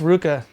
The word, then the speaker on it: RVCA: It's just Ruka. The V is a fancy old-style U.